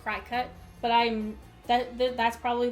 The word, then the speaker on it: Cricut: my mom has a cricket machine and I think it's actually legitimately pronounced cry cut but I'm that that's